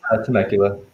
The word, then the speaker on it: Temecula: right cool now you are from i'll be pronouncing right temecula it's nicola california temecula temecula okay let me pull up my notes